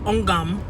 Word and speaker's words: Ogum: I think her real name is Ogum, and that's no shade. It's spelled O-G-U-M, Ogum.